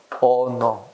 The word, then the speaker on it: honor: honor. 그제? 이 단어들은 형태는 또 뭐야? 자음이지. 근데 발음상 H 발음이 안 되지 않나? 이건 묵음이라 그러지.